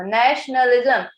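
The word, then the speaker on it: nationalism: ये श ये TIO जहाँ पे भी आता है ना, श प्रोनाउंस कर दो इसको, नेशनलिज्म।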